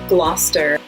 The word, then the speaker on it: Gloucester: And then similar to Worcester is Gloucester and Leicester. They both have that CES combination that Worcester does that you kind of just smoosh all together.